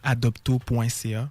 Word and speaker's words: Adopto: Donc adopto.ca. Adopto comme ça se prononce.